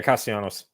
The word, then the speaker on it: Castellanos: Yeah, Castellanos.